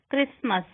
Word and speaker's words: Christmas: T is not pronounced in these common words: castle, Christmas, frozen, listen, soften, hasten, rapid, whistle.